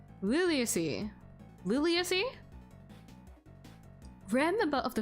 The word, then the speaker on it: Liliaceae: I just want to search out how to pronounce a thing. Why is it not? Liliaceae.